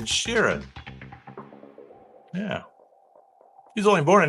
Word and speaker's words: Sheeran: It's not Shirinan. It's Ed Sheeran.